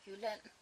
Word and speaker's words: Jylland: the west coast of Jylland. That's where I am living. And I actually think in English it's called Jutland or something like that. But in Danish we pronounce it Jylland.